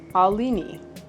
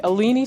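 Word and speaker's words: Aline: She has it phonetically spelled her. She says, "My name is Alini." Let me know if that is not how you say her name. And it rhymes with fetuccini. Aleni fetuccini.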